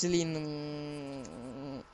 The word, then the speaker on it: Celine: You're gonna see Selena, just Celine.